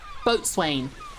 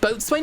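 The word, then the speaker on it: boatswain: Is it pronounced boat swain or bosen?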